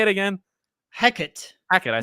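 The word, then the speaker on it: Hecate: Hecat.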